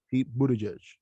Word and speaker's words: Buttigieg: pronounced Pete Buttigieg.